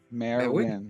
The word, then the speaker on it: Marwin: There's not three syllables. You did good that time, but I know it's your accent, too. It's But think of Marwin when you say her name.